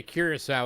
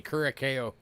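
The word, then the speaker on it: Curaçao: toned and three bucks it took me a while to learn how to say cirasa I used to say Kuro I pronounced it wrong for a while all right moving on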